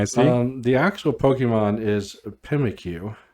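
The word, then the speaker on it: Pyukumuku: The actual Pokemon is Pimikyu. Pimikyu.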